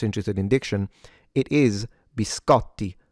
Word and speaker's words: biscotti: It's bis co the t is double. So not only you have to pronounce it like a t but also yeah it has to be stronger or longer.